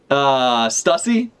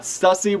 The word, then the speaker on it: Stussy: Stussy? I was like, rhymes with pussy, but like, no. We got Stussy with her fucking awful dog hat.